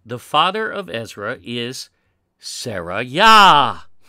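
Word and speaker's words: Seraiah: In 1 Esdras 8, the father of Ezra is Sarayah. But that's not the actual spelling. It's close to the pronunciation. He's Sarayah.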